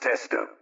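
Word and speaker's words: Testout: Madame Caroline Testu, that's T-S-T-O-U-T, pronounced Testo.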